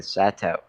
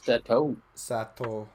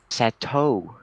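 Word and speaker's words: Satou: Hanako eventually leaving the Sato. Sato. What was You that? don't pronounce the Sato. U. The OU is an elongated O. Sato sisters. Sato. Sato.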